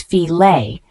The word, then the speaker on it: fillet: The word fillet, F-I-L-L-E-T, it's a noun referring to a boneless piece of meat or fish, pronounced as filet.